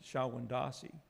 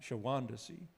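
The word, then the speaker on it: Shawondasee: But I think Longfellow would have pronounced it Shawandasee, not Shawandasee, because it goes better with fat and lazy.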